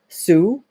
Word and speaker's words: Hsu: you said it's Hsu so I'm gonna say sue and assume the H is silent a young man from